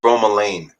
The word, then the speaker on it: bromelain: so there's i think there's bromeline and then there's bromelain because this is spelt b-r-o-m-e-l-a-i-n okay and so bromelain is